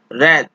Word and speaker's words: wrath: अगली जो हमारी होती है वर्ड, वो है रैथ। रैथ, WRATH, यहाँ पे W साइलेंट है।